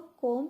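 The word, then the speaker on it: comb: इसको कोम नहीं बोलना क्योंकि बी साइलेंट होता है।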